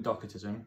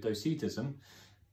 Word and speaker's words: docetism: of what I've been calling docket ism I looked it up because I didn't feel like I was saying it right probably stole Sita sysm so there you go yeah you read these things so much then they actually say them out loud and probably has been saying it wrong so it's this letter saying against the heresy of docetism and it's also gives